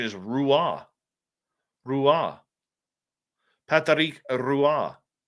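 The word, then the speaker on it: Roy: The proper pronunciation is Rua. Rua. Patric Rua. Not Patrick Wah. It's Rua. So the R is actually pronounced.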